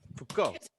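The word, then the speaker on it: Foucault: I'll spell it. It's F O U C A U L T. Fuko.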